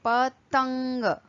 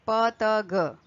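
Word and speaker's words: पतंग: So we say patang, tang, okay. You cannot read like patag. Patag will be totally invalid.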